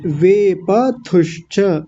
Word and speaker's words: वेपथुश्च: अब इसको देखिए वेपथुश्च, मैं थोड़ा आसान कर देता हूँ, वेप और थू और आधा श और च ऐसा है।